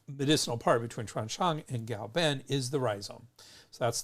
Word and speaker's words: Gaoben: Now everyone's settled on pinyin, but in Wade Giles, K is pronounced with a G. So Gaoben, even though it's spelled Kao, it's still pronounced Gao Ben.